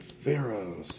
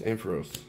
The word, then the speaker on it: Ampharos: pikachu kind of can't move the cards and pharaohs ampharos god dang it leonard making me say it